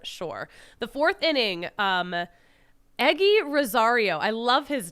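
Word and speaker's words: Eguy: the fourth inning um eggy Rosario I love his name I did not know how to pronounce the statement until I saw it e g u y eggy they were they were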